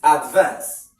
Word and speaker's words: advance: So you stress the second syllable if it is a verb. Stress the first syllable if it is a noun.